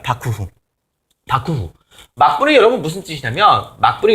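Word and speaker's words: 幕府: 일본식으로 발음하면 바쿠후입니다. 바쿠후.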